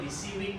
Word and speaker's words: WYSIWYG: Disingkat, dibacanya WYSIWYG gitu katanya.